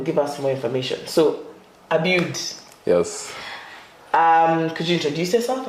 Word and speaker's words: Abiud: It's not, you say it differently, so it's Abiud. You see, Abiud, and I'm saying my own things.